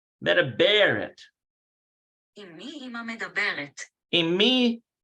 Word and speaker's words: מדברת: So you got to put the emphasis on Medabaret.